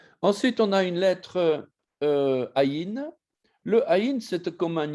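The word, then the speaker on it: ע: Et d'ailleurs, on va prononcer ça à la manière sémitique, on va dire aïn, aïn. C'est dans la gorge qu'on doit l'entendre.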